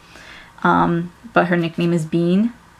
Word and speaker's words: Bin: name is Sabine um but her nickname is Bean it's b i n but it's pronounced b e a an which is cute